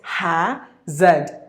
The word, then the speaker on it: hazard: In the British English, it is hazard without the letter R.